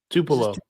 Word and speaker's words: Tupelo: McNeese is heading to, how do you pronounce this? Tupelo? Tupelo.